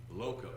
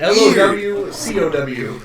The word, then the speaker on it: loco: Loco. Loco? Yeah, like he pronounces it so weird. LOWCOW. Yeah. I mean, like he overemphasizes the O's.